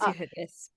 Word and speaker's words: Yehudis: My name is Yehudis.